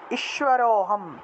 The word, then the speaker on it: ঈশ্বরোহম: আনিশ্যে চাপরানপি চাপরানপি ঈশ্বরোহম ঈশ্বরোহম এই যে র র উচ্চারণ করলে অ আসে এই অটাই টান দিয়ে বলতে হবে এক টানে বলতে হবে ঈশ্বরোহম ঈশ্বরোহম এই যে